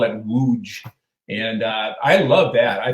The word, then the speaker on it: Łódź: So the Western pronunciation is Lodz or Lodz. they call it Łódź.